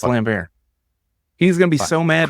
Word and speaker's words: Lambert: name wrong or something Christopher lambar is it lamb is not are you I'm serious it's lambar he's gonna be so